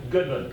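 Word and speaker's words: Gudman: Is it Goodman or Goodman? Goodman. Goodman, all right, spelled G-U-D.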